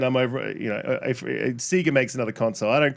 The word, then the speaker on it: Sega: pronunciation Sega is crazy SE is crazy SE e it's not sa you guys are like Sega it's like you don't you don't Sega it's s e GGA literally says Sega SE in Australia it